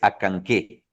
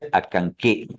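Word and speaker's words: Acanceh: ese Chitinta, es Acanqué, ¿ok? Se pronuncia Acanqué. La Acanque. CE suena como K, Acanqué. Por ejemplo, arriba tienes a Chicxulub, ¿ok?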